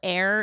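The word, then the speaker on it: Ayr: And there's a brand called Air. It's spelled like a Y R.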